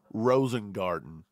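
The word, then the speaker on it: Rosengarten: man I'm telling you Rosen gter I think his name is Rosen Garder is that how he pronounces it I want to make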